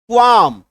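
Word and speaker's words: qualm: एल एम ठीक है एम से पहले एल है काट दीजिए क्वाम क्या उच्चारण हो गया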